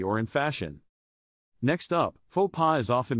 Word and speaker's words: faux pas: in fashion next up faux pas often mispronounced as fox pass but in French it is pronounced faux pas without the S sound faux pas means a